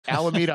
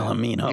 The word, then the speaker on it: Alameda: So um yeah, so I started with the wrong pronunciation. So Alameda Island's where Mythbusters does all their, like, crash testing and Yep.